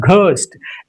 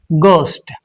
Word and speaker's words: ghost: It's not ghost. It's just ghost.